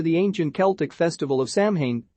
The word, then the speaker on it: Samhain: date back to the ancient celtic festival of samhain pronounced so in the celts who lived two thousand years ago